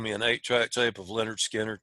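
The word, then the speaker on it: Lynyrd Skynyrd: Charlie Daniels, another friend loaned me an 8-track tape of Leonard Skinner called Pronounced Leonard Skinner.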